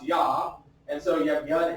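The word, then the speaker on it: יה: And oftentimes God's name is abbreviated this way throughout the Hebrew text, and it's pronounced Yah.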